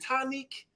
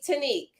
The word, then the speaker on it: Tanique: So I am I'm blessed to have Tanique here as well. Yes. Am I saying it right? Is it Tanique? It's Tanique. Tanique.